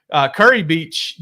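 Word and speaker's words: Kure Beach: And Curry Beach, Dylan, is spelled Kure.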